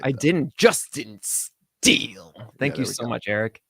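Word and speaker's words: Justin Steele: at you didn't pron I don't think you pronounced it right I didn't Justin steel thank you so much Eric appreciate that so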